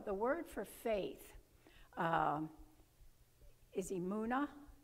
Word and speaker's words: emunah: The word for faith is emunah, E-M-U-N-A-H.